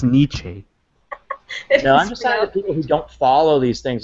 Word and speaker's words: Nietzsche: he is our generation modern day Niche category I think it's pronounced Nietzsche who don't follow these